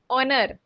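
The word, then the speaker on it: honour: और honest tell me honest honest H is silent here ऑनर ऑनर आर जो घंटे के लिए यूज़ करते हैं ऑनर मतलब सम्मान के लिए सो वैसे ही जो एच है ना वो साइलेंट होगा यहां पर जैसे ऑनर और आर में होता है सो दे आर ऑनेस्ट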